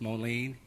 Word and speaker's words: Monee: First came on the board, I had the opportunity to travel all the way out to Monee, and am I saying it right? Monee? Yes, Monee.